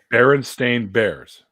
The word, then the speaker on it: Berenstain: bearers yes at all well it's spelled stain right yeah yes but like people pronounce it berenstain bears yes but like people